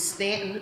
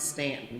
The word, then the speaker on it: Staunton: a little bit it's Stanton Virginia I know it's spelled Staunton but they pronounce it Stanton we're here in the